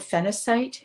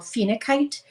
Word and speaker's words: phenacite: The highest, in my opinion, you can use I call it phenacite. You'll see it spelled phenacite with a C. Sometimes you'll hear it called phenakite, and it's spelled with a K.